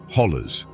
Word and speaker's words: hollow: They are ancient eroded walls that create a labyrinth of valleys, ridges, and hollows, or as the locals say, hollers.